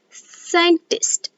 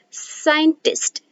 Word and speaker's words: scientist: the silent c words when s and c comes together c then c is silent for example scientist scientist so now when here